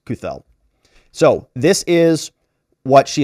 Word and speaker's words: Cathell: for the post-millennial and her last name is pronounced kuthel my apologies kuthel so this is what